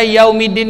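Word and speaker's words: يوم الدين: kata Nike yummy Dina berarti kan cara membaca yaumiddin ya bukan Malikiyaumiddin atau miliki yaumiddin Iya Uh tetapi kita membacanya melafalkannya dengan lembut Bagaimana nah yaumiddin Silahkan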